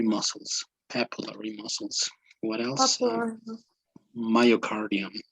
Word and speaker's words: myocardium: the sea right it's muscle right but it's pronounced muscle it's vena cava cava cava okay and papillary muscles papillary muscles what else myocardium not meocardium myocardium cardio okay so could you explain a